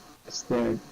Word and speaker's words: stared: Stared. Oh, which one? Stare. Starred? Stared, oh. Stare Okay. sounds like stare, like the stairs in steps, yeah? It's the same pronunciation.